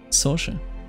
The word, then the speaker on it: Saoirse: Soshi. Soshi? No, wait, that's not what she says. Wait a minute, what? And how not to pronounce Saoirse Ronan's name. Saoirse.